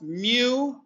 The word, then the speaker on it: mu: It's a cursive U, but it is pronounced mu.